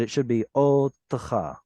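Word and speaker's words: אוֹתְךָ: It's easier to say otcha, but it should be otcha. Should be an audible shva because of that preceding vowel.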